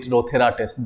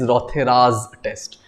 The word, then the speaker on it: Rothera's test: in the last class, the test which is named after any scientist should be always pronounced with an apostrophe s. You just cannot call it Rothera test. That is wrong. Okay, some examiner might take offense. So remember, it is Rothera's test.